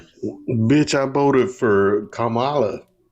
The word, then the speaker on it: Kamala: Can Can I just say Can I just say I hate when people pronounce her name like Camala? It's Kamala.